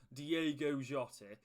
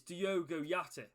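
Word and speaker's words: Diogo Jota: his name now obviously i know that it's not diego giotti it's diogo yachty who do you think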